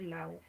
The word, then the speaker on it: law: Here, it is written as L A. It is written as L-A-W. So in Luo, we pronounce it the way it is. We say Lao, Lao, Lao, Lao.